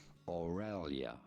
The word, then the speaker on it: Aurelia: In English, it is normally pronounced as Aurelia. Aurelia.